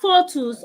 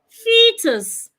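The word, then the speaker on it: foetus: words like sheep fetus fetus is spelled f e o t u s so it's not photus or fuset fetus fetus it has a long e Fus we have other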